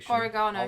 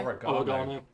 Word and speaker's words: oregano: now I'm Fringe down oregano oregano oregano oh again I hate to admit it yours is closer to the original Spanish that is true Parmesan